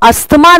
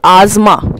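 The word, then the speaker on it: asthma: तो बच्चों अस्थमा नहीं होता है, सबसे पहले तो ये क्या होता है, दिस इज आजमा, ठीक है। अस्थमा नहीं बोलेंगे, दिस इज आजमा, ठीक है। प्रोनाउंसिएट कैसे करते हैं, इसको प्रोनाउंसिएट करा जाता है एज आजमा, ठीक है।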